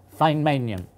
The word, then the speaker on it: Feynmanium: they will all know it has to be pronounced F so my bid for this name is fine manum a group of Russians and Germans aren't going